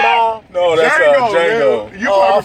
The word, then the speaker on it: Django: Real niggas, the D is silent, but not This is one forget what he said.